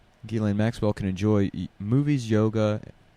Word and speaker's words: Ghislaine: What I like about Ghislaine's name is the S is silent. Yeah. The S standing for the second grader that she has tied up in her basement is silent. Ghislaine Maxwell can enjoy movies,